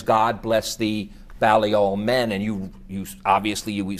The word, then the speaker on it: Balliol: Is that how you pronounce Balliol. it? Balliol, yeah.